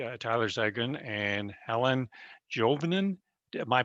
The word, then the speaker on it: Juvonen: two guests today uh tyler sagan and helen jovenen am i pronouncing that correctly it's juvenile juvenile oh uh juveniles so that's a dutch